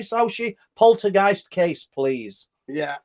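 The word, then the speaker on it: Sauchie: Um, but it's called si. So So if you can split that up into s a w k a y.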